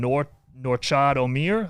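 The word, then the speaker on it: Nortchad Omier: what's going on with I believe you pronounce his name Norchad Omier.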